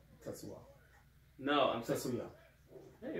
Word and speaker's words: Tetsuya: Say it like Tetsuo. No, Tetsuya.